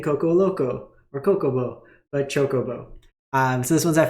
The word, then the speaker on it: Chocobo: I said Coco in the last video and all my comments were ripping me apart.